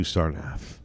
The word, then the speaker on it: Sarnath: Let's do Sarnath. Rhymes with Penath.